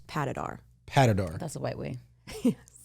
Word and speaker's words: Patidar: But we have with us Amanda Abiassi, if I pronounced that correctly. Yes, sir. I'm so proud of you. Yeah. And Patidar. Patidar. Is that correct? She says it fancy. It's Patidar. Patidar.